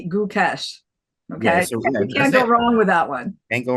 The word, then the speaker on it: Gukesh: first name oh yeah right way guys I thought about how to explain this to you it's it's D good cash okay I can't go